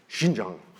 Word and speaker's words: Xinjiang: xinjiang region of china actually it's pronounced if you say the chinese way i think it's xinjiang but i'm not chinese but that's the right way to say it xinjiang and the that area